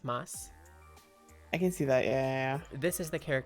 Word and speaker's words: masu: word so for example you know how desu d-e-s-u is actually just pronounced desu or masu is actually known as moss i can see that